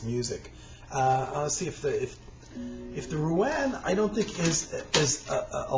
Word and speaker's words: Ruan: It's a solo recital essentially of Pippa music, but there's a Ruan, R-U-A-N, I think is how you pronounce it, which is another stringed instrument, another Chinese stringed instrument.